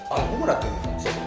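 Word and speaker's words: 炎: - Ça se prononce Homura en japonais ? - Ouais ! - Et non pas Honoo ?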